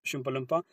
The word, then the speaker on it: chalupa: get that chalupa Chala please please say it correctly have have some respect out here it's called shalpa um We're going to